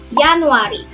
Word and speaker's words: januari: Memang dibacanya ataupun di tulisannya itu Januari, tapi pengucapan di dalam bahasa Belanda bukan Januari, Teman-teman. Tapi dibacanya Januari. Januari. Jadi di depannya ada pakainya huruf Y, ya. Jadi, dibacanya Yanuari seperti itu.